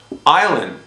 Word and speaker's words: island: in them for example island you know we don't say island okay the s is silent okay they all have